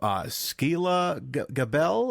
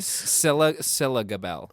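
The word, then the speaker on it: Scilla Gabel: We got Sarah Shane as Angie, and we have Skeela Gabel. Did I say her name? Who played Tony? Scylla Gabel. Scylla. Yeah, like Priscilla.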